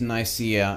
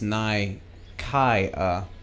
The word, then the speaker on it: Nicaea: Okay, so in English it is Nicaea, and apparently in Greek it's Nikaia.